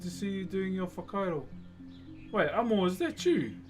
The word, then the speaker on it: whakairo: How do you say the Maori word for wood carving? Whakairo. Rusty and Twiggy, thank you very much for the roses. So WH in my language, or Te Reo Maori, is an F.